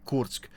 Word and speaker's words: Kursk: It's hard to say. I want to say it like the English way and the Russian way at the same time. We'll do it the Russian way, Kursk. So where Kursk is, that